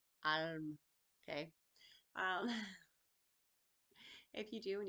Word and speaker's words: Ailim: It's spelled Ailim, pronounced Alm. Alm.